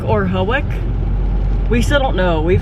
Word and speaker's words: Hawick: We're headed to either Hawick or Hawick.